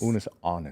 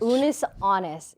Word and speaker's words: Unus Annus: I have this severe sense of FOMO when I found out about am I pronouncing it right? Unus annus? Unus annus. Unus annus, yeah.